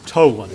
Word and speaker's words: Tholen: The H is silent, told. Tolan, okay, thank you.